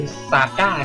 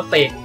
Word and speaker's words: Sage: สำหรับ ภาพ ที่ แล้ว ที่ อ่าน เป็น ซาก้า ใช่ มย เออ มัน อ่าน ว่า เสก s a g เสก นะ ฮะ นัก ปราด